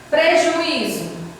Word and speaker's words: prejuízo: E por que ela é paroxítona? Ela é paroxítona porque a sílaba tônica, ela está aqui, ó, no i.